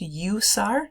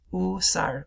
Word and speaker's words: usar: Notice it looks like the word to use. It also means to use, but it's not pronounced usar. It's usar, usar, usar.